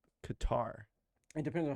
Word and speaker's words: Qatar: QA q r yeah it depends on how you pronounce it but I think the technical term is cutter yeah see when you